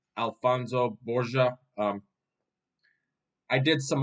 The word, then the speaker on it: Alonso: some online research yeah it's literally Alonso a l f o n o s Alonso not Alonzo even though the book says Alonzo so it's Alonso not Alonso let me let me spell